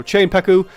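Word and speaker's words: Czepeku: It's CZE, but I heard someone else pronounce their name from the one, I can't think of the name of the Alchemist TT or VTT. I don't know. But yeah, apparently they pronounced it Che, kind of like the Czech Republic.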